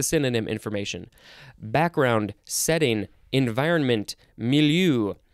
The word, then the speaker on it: milieu: so here's the synonym information background setting environment milieu misonsen mean the place time and circumstances in